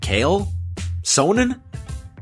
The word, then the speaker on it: Chael Sonnen: promote a fight but simply how do you pronounce his name kale sonan and in october of